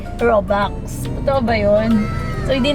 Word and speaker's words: Robux: yung Oo nga yung yung spelling niya daw is r o u x robux pero yung pronunciation daw ay robox totoo ba yon So